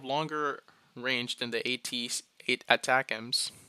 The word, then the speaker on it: ATACMS: It could include more of what was previously provided, like the surface to surface Army tactical missile system known as ATACMS and pronounced ATACMS, that would come with broader authority to strike deeper into Russia.